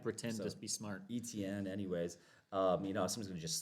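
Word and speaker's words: Etienne: You say Etney is how you say his name?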